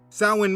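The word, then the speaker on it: Samhain: Sin means summer's end. Just Google sin, summer's end, and you will see the date each year. Now, the word doesn't look how it's pronounced.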